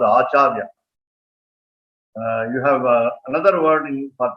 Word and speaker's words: Acharya: Acharya, Niranya, Acharya. So there are three syllables.